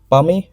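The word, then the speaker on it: palmate: पामे, वैसे इसमें टी जो है वो साइलेंट होता है, पामे कहते हैं इसको, है ना।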